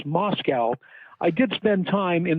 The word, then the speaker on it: Moscow: Indianapolis tell me repeatedly there are no cows in Moscow which pronounced at least